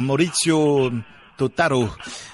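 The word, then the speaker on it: Maurizio Totaro: a été réalisé par mauricio totaro voilà oui vous avez vous avez la bonne prononciation fait un peu italien justement il avait une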